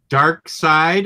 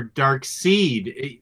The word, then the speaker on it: Darkseid: questions Sam cluck Sandberg I didn't know there were multiple ways to say dark side or dark seed exactly I remember when Darkseid first came out everybody was saying dark seed seed matter I still say early dark officially I think the creators when their interview they all call him dark sleet or darkside sorry you know what